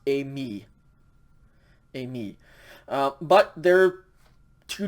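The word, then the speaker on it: εἰμί: pretty it would be pronounced a me and it's i will go okay so a me accent on the second syllable is i am a me with the accent on the first syllable as i will go okay there are only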